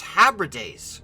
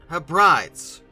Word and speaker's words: Hebrides: Apparently this is pronounced Hebrides, not Hebrides. Hebrides?